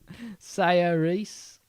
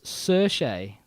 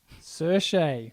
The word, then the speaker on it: Saoirse: So it's Saoirse. Saoirse Ronan. Saoirse Ronan. We had to look up the Google Wiki pronounce on that. Saoirse.